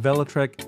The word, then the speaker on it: Velotric: e-bike called the Discover one by velotrek and velotrek is the correct pronunciation they sent me over a sound file